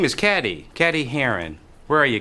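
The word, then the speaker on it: Cady: Her name is Caddy, Caddy Heron. Where are you, Caddy? That's me. It's pronounced like Katie.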